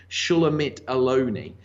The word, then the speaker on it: Shulamit Aloni: I believe her name is pronounced Shulamit Aloni.